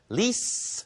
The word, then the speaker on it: lease: lease. 자, 스 발음 그때 강하게 해주시면 되고요. lease 해주시면 됩니다.